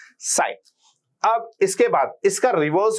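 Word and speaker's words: sine: से देखो एक बार हम परपेंडिकुलर का हाइपोटेन्यूज साइ अब आप ध्यान रखना इसकी जो एक्चुअल स्पेलिंग है वो कुछ ये होती है एस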